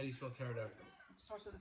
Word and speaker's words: pterodactyl: joke that F around why can't you hear a t p do you know why cu the p is silent how do you smell pterodactyl starts with a P